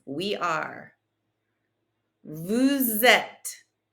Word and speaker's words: êtes: Vous êtes. Don't pronounce the ES. Vous êtes.